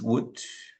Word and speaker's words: would: Remember that the pronunciation it's would. ¿Listo? Would. Ni la O ni la L suenan.